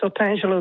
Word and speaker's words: Otangelo: Otangelo in Brazil. Hello. Did I pronounce that right? Good evening. Yes, Otangelo, that's all right.